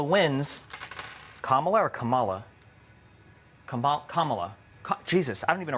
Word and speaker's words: Kamala: If Kamala wins, Kamala or Kamala? Kamala.